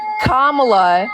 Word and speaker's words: Kamala: okay Kamala okay now listen say her name kamla how is she so popular all of a